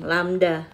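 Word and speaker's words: λ: jarak di Gelombang adalah disebut dengan lambda ini bacanya lambda ya artinya w W times time-nya itu period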